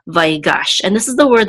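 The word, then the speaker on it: ויגש: this is my gosh this is the tert mark which gives us the accent mark so we know that the accent is I'm a last syllable by gosh and this is the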